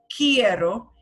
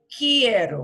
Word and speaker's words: quiero: Quiero, and it sounds like the word key, like a key you use in a door. Quiero. We don't pronounce the U in querer. that U goes not pronounced. It's one of the few letters that doesn't really, it's not quiero, it's quiero. So it'll sound like the word key with ero, tak tambien.